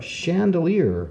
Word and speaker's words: chandelier: an Italian nut or chandelier which is a light that hangs from the ceiling so there's lots of words with ch where the CH makes the sh sound of shh let's write some down